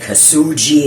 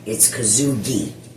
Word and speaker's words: Kosugi: Oh, and I wanted to just let you guys know, his name is pronounced Kazugi. We said Kasugi and all kinds of weirdo white pronunciations. It's Kazugi.